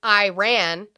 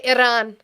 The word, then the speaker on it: Iran: Shades says quit rolling your arms when you say Iran. It is not Latino It is not a Latino word. You do not roll our dumb It's pronounced and then you spelled Iran correctly. Don't roll your arms.